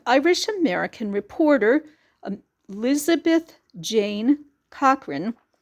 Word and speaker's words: Cochrane: Irish American reporter Elizabeth Jane Cochrane, the CH is pronounced like a K, also known as Nellie Bly, made history when she traveled around the world in 72 days in 1889.